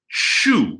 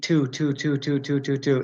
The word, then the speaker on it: to: are really stressed, and they do seem to always say chu. And so then what happens is often I'll say, well, pronounce it like the pronoun, and Portuguese has the same pronoun as Spanish, tu. But that's not quite what we say either. Again, just, repeat tu.